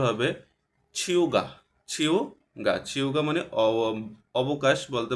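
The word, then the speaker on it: 휴가: একটু ব্যতিক্রম উচ্চারণ হবে এটা আমরা যদি নরমালি উচ্চারণ করতে যাইতাম তাহলে হিউগা হিয়োগা হইতো আসলে এটার উচ্চারণটা এরকম হবে না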